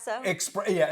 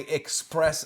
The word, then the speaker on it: espresso: Espresso. An espresso. Yeah. Now, and you're coming from a guy who mispronounces things all the time, but when I hear people say express or whatever, especially, I Yeah.